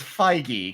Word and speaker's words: Feige: do you pronounce Kevin Feige is less pronounced pshh I would think you'd pronounced it fi GE v ye I have learned I have learned the correct way is Feige kind of like Nike are you reading this